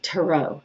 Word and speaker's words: tarot: this is um it's it's just a British version compared to them American version and I used to do the psychic um fairs and all that stuff people would always be like it's tarot it's tarot you know